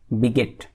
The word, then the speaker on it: bigot: आप यहाँ देखेंगे BIGOT है, पर इसका प्रोनाउंसिएशन करेंगे बिगेट.